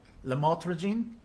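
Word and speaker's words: lamotrigine: prescribed medication and I'll try my best to pronounce it correctly Lam motene did I say it right what is it lrene lrene okay it's a serious medication isn't it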